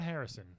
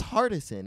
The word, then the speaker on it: Hardison: Not Harrison. Harrison. Is it Harrison? No, you said it right. Oh, okay. I think I always thought it was Kadeem Harrison, but it's not. I thought it was Hardison.